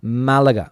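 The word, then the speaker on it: Málaga: But of course here in Spain the accent as that little that little thing on top of the a uh makes means means that you have to stress that particular uh vow. Malaga is how it's pronounced.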